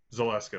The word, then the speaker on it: Zaleska: playing countess countess maria how do you pronounce that last name zelaska zolaska that's it that's it her just